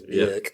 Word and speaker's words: Björk: So when Bjork, I'm going to say her name properly, it's Bjork.